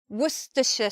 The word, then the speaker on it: Worcestershire: sauce Worcester sauce well some people say Worcestershire sauce two ways to pronounce that sauce next we have probably